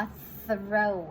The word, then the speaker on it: throw: ควบ กล้ำ นะ คะ การ ออก เสียง TS ก่อน นะ คะ ก็ คือ แบบ นี้ นะ คะ ของ คำ นี้ คำ ว่า เสร็ว นะ คะ ก็ เป็น ก็ เอา ลิ้น ออก มา นะ คะ ไม่ ใช่